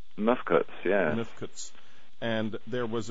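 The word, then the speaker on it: mfkzt: Now, you speak to great length in Lost Secrets of the Sacred Ark about something that you call, I can't even pronounce it, Mifkut? Mifkuts, yeah.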